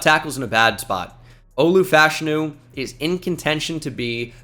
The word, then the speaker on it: Olu Fashanu: Well, Olu Fashanu is how that's pronounced now.